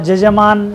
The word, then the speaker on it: यजमान: यकार को जैसे जकार उच्चारण है, तो जैसे यजमान है वहाँ जजमान शब्द का प्रयोग है।